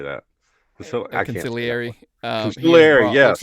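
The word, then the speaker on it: consigliere: Conciliary.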